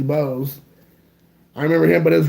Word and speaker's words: Bogues: Muggsy Bogues or Boggs? I think it depends on how you say it. I think Muggsy Bogues.